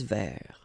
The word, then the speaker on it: vert: Un espace vert. Final not pronounced, and then final T not pronounced. Un espace vert.